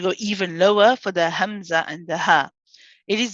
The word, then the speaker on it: همزة: now so with hamza hamza is a letter that is we call it a shidda letter it's a letter that has a sharpness to it um when we pronounce it with a fatah we say ah so where is the sharpness the sharpness in this case is right at the beginning when you first start